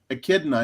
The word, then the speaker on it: echidna: How do you pronounce the name of Echidna. that? Echidna.